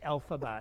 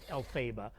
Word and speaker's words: Elphaba: them how to say how to say elphaba instead of el faba yeah but but other